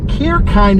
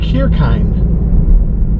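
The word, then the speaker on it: Kirchhayn: to a town i never knew how to pronounce this uh cure kind is how you pronounce it it looks really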